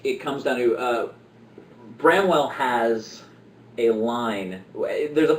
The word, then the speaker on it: Bramwell: represented and and to me the images of bromwell and uh did I say it right yeah Bramwell and Carla or Barnabas and Carland or whatever